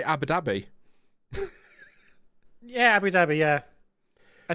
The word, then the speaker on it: Abu Dhabi: but there you go Abu dbby how do you you know how do you pronounce that not with a big gap between the words I say Abu Dhabi yeah Abu Dhabi yeah